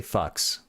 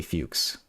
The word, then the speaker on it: Fuchs: How do you pronounce this Fuchs? Because I want to say fucks, but it's probably Fuchs.